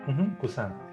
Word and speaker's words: Busan: Busan. Yes. And which kind of makes me laugh a little bit that you don't like horror, because there was that big horror movie that came out, Train to Busan, which, well, one, I've yet to watch either,